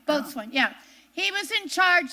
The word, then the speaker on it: boatswain: man on the ship a boatswain I think that somehow you pronounce it a boat swing uh-huh yeah both one yeah he was in